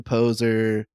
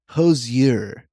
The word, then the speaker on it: poser: like, you're such a poser," whatever. He pronounces it "posier" in the book multiple times.